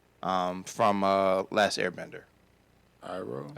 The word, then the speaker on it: Iroh: I can never pronounce Uncle's name. From Last Airbender. Iroh. Arrow.